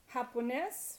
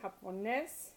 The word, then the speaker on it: japonés: Japonés, which means Japanese, accent on the E. Japonés, inglés.